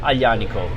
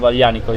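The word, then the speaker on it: Aglianico: will be exciting so what are the common mistakes when people try to pronounce it and the g is silent yes yeah yeah you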